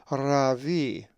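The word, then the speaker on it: ῥαββί: Another Greek word that has a lowercase rho is Ravi, which means rabbi and is number 4461. The accent is over the iota, Ravi.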